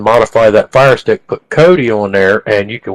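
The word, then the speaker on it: Kodi: the istick to put what they call Cody and it's spelled kod I on there you can modify that fire stick but Cody on there and you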